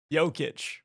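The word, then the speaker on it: Jokić: Yic.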